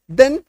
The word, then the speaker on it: than: THEN देन और THAN दैन, इसको क्या बोलते हैं, दैन, डबल एकार की मात्रा, दैन।